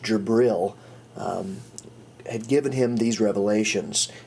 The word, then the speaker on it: Jibril: Basically, he said that the angel Gabriel, pronounced Jibril, had given him these revelations, and this revelation was known as the Quran.